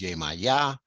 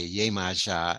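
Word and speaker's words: Iemanjá: and so we um in cuba i think the term many people will say is yemaya or yemaycha uh and in brazil they say yay maja and spell it i-e-m-a-n-g-j-a and o-shun she has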